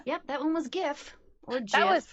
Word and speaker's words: GIF: It's GIF, it's not GIF. Kawaii GIF is lip what you injection. clean with. Yeah. With the J. J-I-F, exactly. That one.